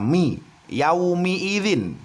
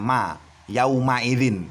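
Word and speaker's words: يومئذ: menyaksikan dan melihat sendiri bahwa minimnya harokatnya kasrah ya bukan Fatah sahabat Quran ya hati-hati Hai harus dibaca my yummy Irin Jangan sampai tidak teliti sehingga yang harusnya dibaca my ini kita justru membacanya ma ya Um Airin tidak sabar cobaan harus teliti membacanya ia Umi izin nah sahabat Quran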